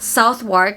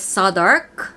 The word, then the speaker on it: Southwark: For example, this one is not Southwark, it is Southwark.